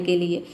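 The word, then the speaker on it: call: जब किसी वर्ड में ए के बाद अगर डबल एल आ जाता है तो वहाँ पे ए को हम क्या प्रोनाउंस करेंगे, ओ प्रोनाउंस करेंगे।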